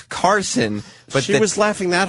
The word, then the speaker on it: Karson: Not great, because his name's Karson.